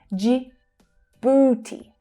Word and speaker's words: Djibouti: That's the J as in jam consonant sound, and the oo as in food vowel sound. Djibouti, Djibouti, Djibouti.